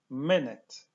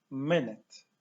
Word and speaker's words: minute: Akcentujemy pierwszą sylabę. My miękkie y w obydwu sylabach. Piszemy i u, a wymawiamy dwa razy miękkie y. Minet. To powtarzamy dwa razy. Minet.